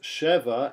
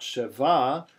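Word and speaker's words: שבע: now we know that because the accent is under the shin in case we didn't know that was the word Sheva that the word four seven we we know that it's pronounced Sheva and not Shiva because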